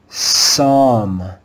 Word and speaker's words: psalm: Here is another common word with a silent P. Let's read this word together. Psalm, psalm, psalm. Notice the silent P at the beginning of the word.